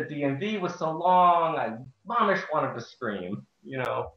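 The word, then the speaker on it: ממש: This word is pronounced mamish.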